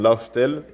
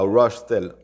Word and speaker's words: Raftel: Il y a Rashtel. J'essaie de ne pas faire de l'accent pour faire genre, j'essaie de dire Rashtel, tu vois.